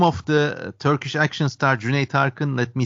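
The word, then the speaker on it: Cüneyt Arkın: way the name of the Turkish action star Jun Tarin let me spell it for audiences it's c n e y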